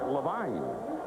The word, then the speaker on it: Levine: His name is spelled Levine, but he pronounces it Levine.